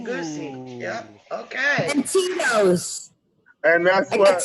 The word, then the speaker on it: Tito's: And Tito's. And that's I got what Tito's.